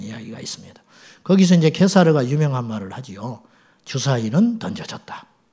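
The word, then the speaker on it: Caesar: 가이사라 그래 성경에는 가이사라 가이사 이걸 케사르 아고 하고 역사적으로는 시저 영어로는 시저를 하지요 그들의 발음대로 하면 케사르에게 그다음에 안토니우스 옥타비아누스 이런 이야기들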